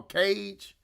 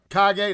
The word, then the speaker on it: Kage: to what they call Cage. I think that's the evil Ryu's name on that particular version is Kane. Kage, that's how you say it. I said Cage.